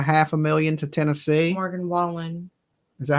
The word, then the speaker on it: Wallen: I I can't I don't wow U Morgan Wallace is donating a half a million to Tennessee Wallen is that how you say his name yeah